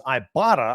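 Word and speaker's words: Ibotta: store or Google play or download the free ibata app and start earning cash back use the code locked on College that's ibata I'll spell it for you IBO ttaa IB o TTA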